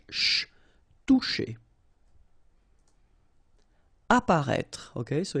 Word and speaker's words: apparaître: Apparaître. Okay, so exactly the same situation here with this circonflex. You don't pronounce it.